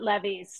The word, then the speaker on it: Levi's: But you know, The one of Europeans call it levies, so you can do Levi's.